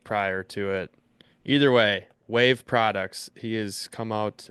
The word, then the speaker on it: WAV: He has come out WAV. You can check that out on the social medias or just go to Austin's Instagram or Facebook. He's been sharing it as well. WAV? I believe that's pronounced Wav.